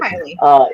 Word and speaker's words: Kiely: I don't want to say her name wrong. Kylie? Keely or Kylie? Okay, thank you. Kylie.